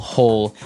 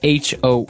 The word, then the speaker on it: hoe: make Maybe a small hole in the ground you would use a spade and now our last tool has a Kind of a Funny spelling it's h o e and it's pronounced ho ho so again this